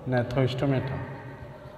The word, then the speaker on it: Gnathostomata: First division is agnatha, and second division is gnathostomata. Here G is silent.